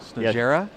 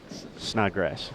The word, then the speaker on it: Snodgrass: It's actually he has a Snodgera? Snodgrass. Snodgrass. There's a missing letter up there. Yes, so that's tricky.